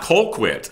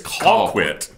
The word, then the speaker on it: Colquitt: It's like, this is Motown, and it's not Colquitt. It's spelled that way, but it is Colquitt. It's basically C-A-L.